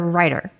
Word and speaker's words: Ryder: Is it John Reider or Ryder? It's Ryder, yep.